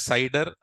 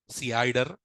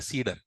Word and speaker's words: CIDR: Some people call it as CEDAR. Some people also call it as CIDR. CIDR. There's, however they want to pronounce, they can pronounce this. But remember, for my students, I pronounce it as CIDR. It is a professional way of doing it. So don't call it a CEDAR.